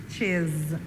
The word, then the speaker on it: she's: Notice that S is not pronounced like S. S, but like Z, his, like a Z. And it will be the same thing with she, she's.